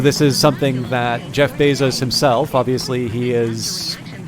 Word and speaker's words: Bezos: this is something that Bezos uh or Bezos I think is the correct pronunciation I believe is actually